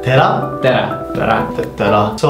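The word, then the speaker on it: Tere: It's Tera. Tera?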